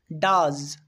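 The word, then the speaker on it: does: এবার দেখো ও ই এটা থেকে আ সাউন্ড কখন হচ্ছে, ডাজ, ডাজ, এখানে আমরা ও ই খুঁজে পাচ্ছি, এখানে ও ই এর সাউন্ড হচ্ছে আ এর মতো, ডাজ মানে করা।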